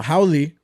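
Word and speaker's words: haole: and foreigners were coming in and then uh howy are what Hawaiians called white people in Hawaii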